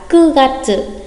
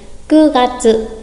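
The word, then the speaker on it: 九月: Và tháng 9 không đọc là Kyu mà sẽ đọc là Ku Gatsu. Ku Gatsu.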